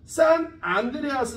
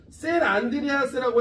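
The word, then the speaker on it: San Andreas: 자, 그래서 요게 대표이 뭐냐면 산 안드레아스 단칭이야. 야, 이걸 산이라고 읽어야 돼. 센이라고 읽어야 돼. 나는 아직도 그게 궁금해. 하긴 산프란시스코라고 하진 않잖아. 센프란시스코라고 하지. 그죠? 셀 안드리아스라고 해도 되고요. 산 안드레아스라고 해도 돼요.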